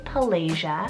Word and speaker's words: Pelagia: I had trouble pronouncing it because there is a couple different pronunciations depending on where you live in the world. But to me and to us, we would pronounce it as Pelagia.